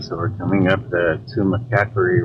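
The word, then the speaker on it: Tumacácori: Now that looks like Tumacacori, but they actually corrected us and said Tumacacori. That's because the accent is on the A.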